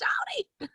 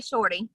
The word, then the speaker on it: Shawty V: No, some people go with Shawty, Shorty, Shawty, Shawty. It's Shawty. But yeah, some people say Shorty.